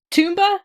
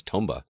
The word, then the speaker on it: Tomba: comeback Wait wait wait toomba is that how you pronounce it it was Tomba I've never played the